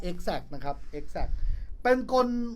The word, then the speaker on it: X-act: ว่า กล x แอ๊ค ผม เข้า ใจ ว่า มัน อ่าน ว่า Exact นะ มัน น่า จะ ทำ มา ล้อ ล้อ เลียน คำ ว่า Exact นะ ครับ Exact เป็น